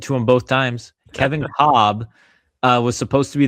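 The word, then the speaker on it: Kolb: It looks like his last name is spelled Cobb by the way. KB, but they say Cobb. That's how you're supposed to say it apparently.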